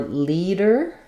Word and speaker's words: leader: Um, and then for leader, um, we have the ea says the e sound like in me or green. So, I'll rewrite that with an e here, first syllable stress. And then the d is flapped. Leader dur. And then we just again have our sound. Listen to leaders.